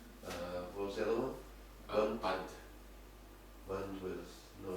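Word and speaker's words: bandha: They don't pronounce the A. A. So band. Yeah. But not a banda.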